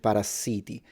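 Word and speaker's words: parassiti: It's just that we spell it with double S, so we pronounce it parasiti, but it's pretty much the exact same word.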